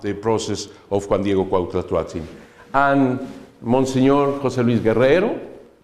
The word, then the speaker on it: Cuauhtlatoatzin: This is Nahuatl. Cuauhtlatoatzin. Can you repeat, please, after me? Cuauhtlatoatzin. Wonderful! Great! Really! For the Mexican people, it's very difficult to pronounce this.